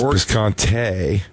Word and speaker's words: Bisconte: It's actually spelled with an E at the end, but I bet, what am I, a dead snake? That's fucking your shit. That's wrong anyway. It's Bisconte. Bisconte.